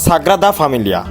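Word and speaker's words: Sagrada Família: সেরা ডেস্টিনেশন হতে পারে আমি দুঃখিত এতক্ষণ আমি ভুল উচ্চারণ করে এসেছি এটার উচ্চারণ মূলত সাগরা দা ফ্যামিলিয়া এই চার্চটা হচ্ছে বিশ্বের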